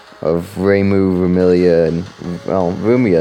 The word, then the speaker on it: Rumia: I guess just the first syllables of Reimu, Remilia, and well, Rumia is different. It's Ru, not Rei.